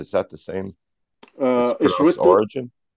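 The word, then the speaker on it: Origen: the same uh origin it's pronounced or r i g e n but you know I'm not a reference for English pronunciation so if you pronounce Oregon I don't okay I don't mind okay so it's written o r i g n yeah I think it is mostly pronounced origin yeah because you pronounce you pronounce diogen okay if you pronoun diogen probably that origin is pronounced origin yeah diogenes also I'm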